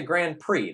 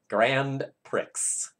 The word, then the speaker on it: Grand Prix: it's a it's a Grand Prix though right so like X is silent in French as a final letter I don't think I'm